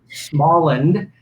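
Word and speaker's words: Småland: it first of all tell us how to pronounce the name because it looks like it is swedish yes smallin okay actually uh is a region of sweden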